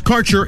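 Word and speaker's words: Kaercher: Your connection to quality cannabis insurance services is spelled K-A-E-R-C-H-E-R. That's Karcher Insurance.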